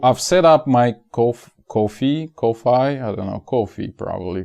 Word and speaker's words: Ko-fi: f i or it's kofi like technically like they're asking you to pay for coffee literally but uh so i think it should be pronounced as coffee uh but it's ko-fi